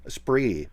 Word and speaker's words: Esprit: It's a Spree. Esprit, but it's spelled E-Spirit, right?